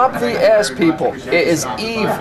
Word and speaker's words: Yves: my name um like someone would ask Eve like Adam and Eve and they would say no Eve like Eve St lauron wow so it sounded